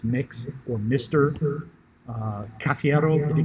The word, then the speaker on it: Mx: feel free to use MX, or which is pronounced Mix, or Mr.